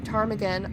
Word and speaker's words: ptarmigan: And all the remaining gods named the ptarmigan, honored above even the loftiest eagle. I hope I'm saying that. I think the P is silent.